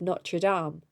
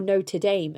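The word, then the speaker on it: Notre-Dame: left the school of not true Dom or Notre Dame as Americans say and went to work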